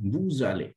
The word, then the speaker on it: vous allez: V-O-U-S, then ale, then this S will be linked and pronunciation will become vous allez, you go.